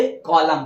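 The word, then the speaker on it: column: पहले अगर आता है एन तो क्या होगा साइलेंट होगा एग्जांपल मिल लेते हैं देखिए यहां कलम इसको क्या पढ़ेंगे क्या पढ़ेंगे कलम क्यों पढ़ेंगे कलम वो समझिए यहां पे एम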